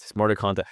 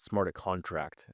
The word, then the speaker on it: Smarter Contact: Smarter Contact. I'm glad you pronounced it correctly, because a lot of crypto guys call it Smarter Contract, and it pisses me off.